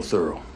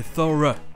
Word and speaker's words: thorough: Officiellement, c'est la prononciation américaine, O. But he's real thorough. Mais c'est notre deuxième prononciation parce qu'officiellement au Royaume-Uni ça se prononce E. Borough et thorough.